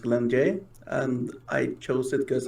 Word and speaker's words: Glenn J: name for yourself uh my indian name is pronounced glenn jay and i chose it because i lacked a